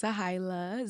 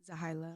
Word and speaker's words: Zehailah: is what's up everybody it's zaha z e h a i l a that's how you pronounce the name zaha holy